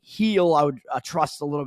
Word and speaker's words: Gil: Francis for Toronto and Luis Gil, or Luis Heel, I guess is how you probably pronounce it, on the New York Yankees there.